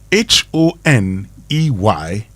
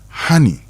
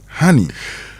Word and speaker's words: honey: However, H O N E Y is honey. It's not honey. No, it is honey. When it comes to the one we eat. Yes. It's honey.